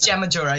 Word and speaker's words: Jen Majura: my name is and it's awesome but it's Jam maora yeah right nice nice so tell us you